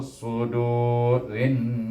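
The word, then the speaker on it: صدور: Baik, sini sad, jangan baca sin, ya. Sudu, terangkat lidah kita sedikit, iaitu sudurin nas.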